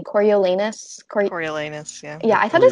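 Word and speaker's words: Coriolanus: a tribute um do you say his name coriolenus yeah yeah i thought his name was cornelius until this year when i read this book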